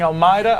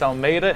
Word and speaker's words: Almeida: you saying his name i was saying al maida i've been told it's almeida and i apologize the chat